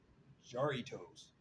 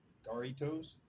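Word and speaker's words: Jarritos: Uh man, Jaritos. I know I ain't saying it right. I believe in Spanish they don't the J's ain't pronounced J's. It's like Daritoss pineapple flavor.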